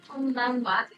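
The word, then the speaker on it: こんばんは: You may have learned that this means ha But in these expressions, konnichiwa and konbanwa, we use this wa here, like this.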